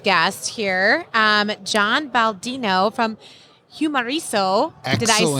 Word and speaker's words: Humareso: We're going to go into our next guest here, John Baldino from Humareso. Excellent. Did I say it right? Yes, awesome. Humareso.